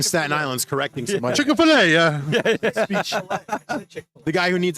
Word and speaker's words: Chick-fil-A: It's not Chicka. Who's Chicka? Chick-fil-A. It's just I find it funny Chick-fil-A. The guy from Staten Island's correcting so much. Chick-fil-A, yeah.